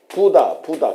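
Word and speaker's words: Buddha: 그렇게 합니다 부다 부다 요거 좀 세게 저기 액센트를 두서 부다 부다 우리처럼 다 붙다 붙다 그것은 아마 영어식 발음이라고 생각할 수 있는데 현재가 보면은 인도 같은데가 보면은 부다 부다 이렇게 얘기를 한다는 거 그걸 알아두시고 그래서 우리가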